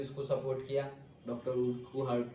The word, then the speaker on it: Urquhart: तो वैसी activity Frederick ए उर्कुहार्ट ने दी थी। Ebright's mother road to doctor उर्कुहार्ट and soon, वैसे जनरली उर्कहार्ट भी प्रोनाउंस करते हैं, बट उर्कुहार्ट भी बोल सकते हैं क्योंकि यू है बीच में।